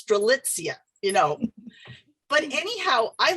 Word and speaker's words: Strelitzia: And if I would mispronounce them, she would say like, no, it's Strelitzia, you know.